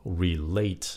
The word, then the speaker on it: relate: cái chữ relate các bạn có nghe không relate nhẫn âm 2 cái chữ relative nhấn âm